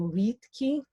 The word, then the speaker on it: vitki: Both a long I and a long Y make an E sound, so vitki.